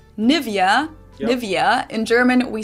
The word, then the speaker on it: Nivea: English native speakers usually say Nivea, Nivea. In German, we say Nivea, Nivea. So the emphasis is on the E.